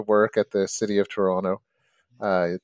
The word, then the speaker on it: Toronto: at the city of Toronto uh don't pronounce the T and uh I would